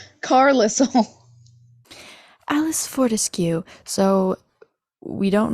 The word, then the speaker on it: Carlisle: I read the books I don't even want to know how I would have pronounced Carlisle I saw someone they're like I called him carlissel Carlisle Alice Fortescue so we